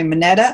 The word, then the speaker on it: Mineta: The nearest airport is San Jose Mineta. Am I pronouncing that correctly?